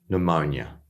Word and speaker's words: pneumonia: So we have pneumonia.